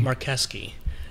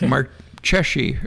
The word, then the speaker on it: Marcheschi: because it looks like mark cheshie or yeah yeah yeah yeah but in italian the ch is a k ah uh-huh yeah so